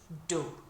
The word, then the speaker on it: du: First we say do. So, uh, think of Homer saying do when he's, uh, remembering something or bumping his head, whatever he does.